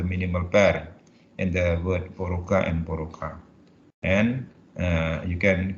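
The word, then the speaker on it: порог: In the word porok here, for meaning threshold, the phoneme is k, but in the word porok meaning vice, the phoneme is k, but they are pronounced the same in the final position.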